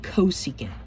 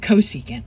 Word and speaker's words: cosecant: For CSC we say cosecant. So this CSC we pronounce it cosecant.